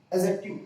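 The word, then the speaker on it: adjective: मैं आपको बता दूं, यहां पे जो डी वर्ड है ना, ये साइलेंट होता है। इसको हम बोलते समय इसकी वॉइस, इसकी जो साउंड है वो नहीं देते हैं। तो इसे हम डी को अगर न रहे तो हम क्या पढ़ेंगे?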